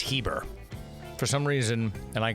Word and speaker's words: Heber: why you call me Herbert? I was like, oh, silent R. I thought I was an idiot. So if you hear me say Herber, I'm an ass, I said it wrong. It's Heber.